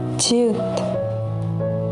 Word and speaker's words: 지읒: 지읒 sounds like J in English. 지읒 plus 아, 자, 자. 진, true. 지읒, 지읒 sounds like CH.